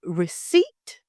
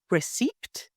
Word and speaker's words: receipt: reduce its debt and the word receip not receed so an example would